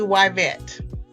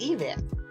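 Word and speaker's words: Yvette: Y is actually Yvet. Y vet. Yes, Vet. It is Yvet. And And it's really interesting because one of my teachers said that I was mispronouncing my name. Yeah. That it should be pronounced Evet.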